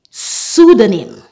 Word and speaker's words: pseudonym: I just mentioned but the P at the beginning of the words are silent are pseudonym pneumonia pneumatic pneumology rule